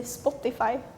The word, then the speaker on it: Spotify: bit annoying yeah Spotify in Sweden we say Spotify Spotify yeah I think I